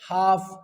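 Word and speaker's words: half: ए एल एफ काफ एच ए एल एफ हाफ डब्लू ए एल के walk T एल के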